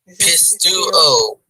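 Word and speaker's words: πιστεύω: EU is a So diphthong. EU, yeah, EU is. That's what I forgot. The pronunciation. The EU pronunciation is equal to EU. You, What's that like again? you. You, Yeah, like you. So EU, the diphthong EU is the pronunciation. yeah. So it's pistuo.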